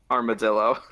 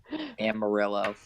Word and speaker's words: Amarillo: Armadillo. Armadillo, Texas. Armadillo. Oh, Amarillo. Thank you. You say it right.